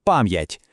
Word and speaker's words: пам'ять: Апостроф потрібен, щоб зберегти тверду вимову приголосного перед я, ю, є та ї. Давайте просто послухаємо. Кажемо пам'ять чітко чути твердий м, а потім ять.